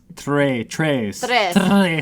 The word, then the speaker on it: tres: I mean, that's like when I learned Spanish, they were like, what's a Spanish word that roll your R? Like... Tres. Oh, I could do tres.